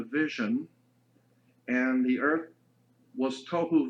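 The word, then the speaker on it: תֹּהוּ: being translated there is tohu and vohu. Pronunciation, it would be T-O-E hyphen W-H-O, tohu. That's not the way it's spelled in Hebrew, but that's the way it's pronounced. T-O-E-W-H-O, tohu.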